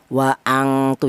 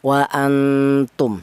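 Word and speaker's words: وَأَنْتُمْ: Wa antu jangan, wa angtu jangan. Ini bunyi vokalnya NN. Wa antum seperti itu.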